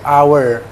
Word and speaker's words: hour: Ini kebetulan yang satu ini di bahasa Inggris ini nggak dibaca, hanya. Oke, jadi ini hour.